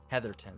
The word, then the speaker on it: Heatherton: Heatherton, that's how that's pronounced.